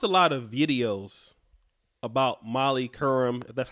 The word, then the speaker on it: Molly Qerim: I watched a lot of videos about Molly Curran that's how you pronounce her name in the Laroy ball situation